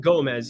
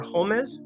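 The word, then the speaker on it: Gómez: Again, it's not Gomez. It's going to be Homies or Homez, I believe, is the pronunciation when you have the O accent above it.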